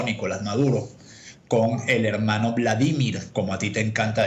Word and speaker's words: Vladimir: ¿Qué pasó, Nicolás Maduro, con el hermano Vladimir, como a ti te encanta decirle, poniéndole el acento en la I, en la primera I?